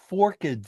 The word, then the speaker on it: forked: Uh they get a forked a forkid stick to beat him down and and I I think it's a forked is two syllables in this in this